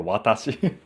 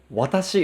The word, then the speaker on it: watashi: Because watashi is not watashi, right? If you look at this in English, it looks as watashi, but that's not the right pronunciation.